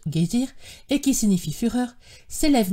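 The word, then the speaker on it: Geysir: une hauteur de dixoise le geyser moque les Islandais prononcent guésir et qui signifie fureur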